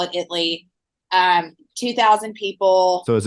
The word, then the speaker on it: Italy: grew up in Italy Texas we call it Italy um 2,000 people so is it Italy or Italy it's spelled Italy but we pronounce it Italy yeah kind of like f to if you're